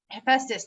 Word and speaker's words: Hephaestus: And there was the Hephaestus, I think is how you say his name. He was like said to be like ugly, but he would make Hephaestus, thank you, would make the most beautiful things for Aphrodite, right?